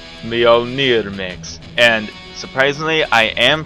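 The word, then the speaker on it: Mjolnir: they don't my number seven is Halo 2 Mio near mix and surprisingly I am pronouncing that right I looked it up see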